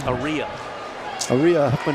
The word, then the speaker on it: Aria Huffman: Aria Huffman. I've been saying it wrong all year. Now it's going to be Aria Huffman.